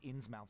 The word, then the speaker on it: Innsmouth: It's actually pronounced That's Innsmouth.